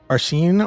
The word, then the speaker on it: Arsène: Arsène, like the crime, Quantic. Arson? Really, it's pronounced arson?